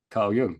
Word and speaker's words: Carl Jung: How do you say his name? Kyle Yung. Yeah.